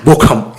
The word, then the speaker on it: Bochum: But I just want to talk about this one point where this weekend, Bayern played against Bochum or Bochum. I'm guessing I'm pronouncing it horribly wrong. Bochum, yeah, perfect.